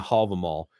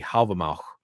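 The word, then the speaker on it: Hávamál: then it's specifically in the hall of the mall or as i prefer to pronounce it the halva in the halva mao it actually has a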